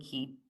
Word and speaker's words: Cay: So, back in the 80s, we purchased this little island called Little Stirup Key, spelled C A Y, because that's how you pronounce pronounce that word. It's not K, it's key.